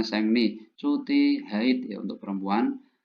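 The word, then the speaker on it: 생리: Sengni juga ya cuti ya, Sengri bacanya Sengni, cuti haid ya untuk perempuan.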